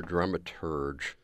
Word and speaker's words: dramaturg: as well exactly it's a drama Turk or dramaturg we dramaturg like to do the hard G at the end yeah and whenever you